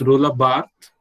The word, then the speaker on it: Roland Barthes: I said Roland Barthes, not Roland. It's Roland Barthes, okay?